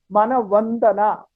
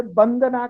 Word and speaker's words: वंदना: किसी शब्द का उच्चारण वंदना वंदना अगर आपने कहा अगर वंदना ही लिखा गया तो आप उच्चारण सही है अगर आपने उसे बंदना कहा गया तो आपको पता लग जाएगा यहां पर गलत सुनने